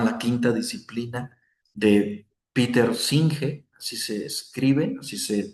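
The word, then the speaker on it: Senge: de Peter Singe. Así se escribe, así se pronuncia y es un libro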